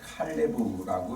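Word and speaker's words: Kalev: 원래 우리 지금 번역에는 갈렙이라고 이렇게 음역을 달았습니다만은 어 히브리어로 되어 있는 갈렙의 이름을 그대로 읽을 때에 칼레브라고 읽습니다. 칼레브.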